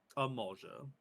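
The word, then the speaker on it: Amalj'aa: I don't know how to pronounce that. Amalgia.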